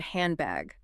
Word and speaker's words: handbag: Or think about the word handbag. Native speakers rarely pronounce the hard D. Wait, really? Handbag, handbag. Oh, well, I do say handbag. Exactly. It assimilates into an M sound because your lips are